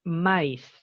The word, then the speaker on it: mice: Mouse es un ratón y la otra palabra es mice. Mice. La letra I en inglés tiene varias pronunciaciones, pero tiene dos que son las más típicas.